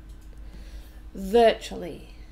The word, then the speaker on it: virtually: this is an adverb virtually tell us three syllables and we stress the first one virtually virtually and it means